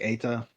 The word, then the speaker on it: Eta: It's a lowercase TA, so it's not an acronym at all.